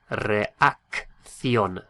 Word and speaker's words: reacción: And it's spelt R-E-A-C-C-I-O with an accent N. What would that be? Reacción, reacción, reacción.